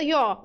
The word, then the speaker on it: rió: Rió el zorro. Tú. Ó, cuidado, você não tá abrindo esse O, né? Não tá dizendo rió, não, tá dizendo rió.